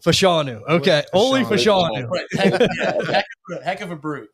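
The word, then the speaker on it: Olu Fashanu: again you just wash the first name say oie fashanu fashanu Okay oie fanu heck heck of a brute you Western PA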